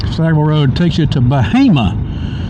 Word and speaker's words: Bahama: Stagwell road takes you to Bahama, not Bahama, Bahama.